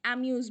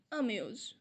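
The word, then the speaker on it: amuse: আমরা অনেকে এটাকে অ্যামিউজ বলি বা ইমিউজ বলি, অনেকে এটাকে অ্যামাজও বলে, একদমই সঠিক নয়। এটার প্রোনাউন্সিয়েশন হবে অমিউজ, অর্থ আনন্দ দেওয়া।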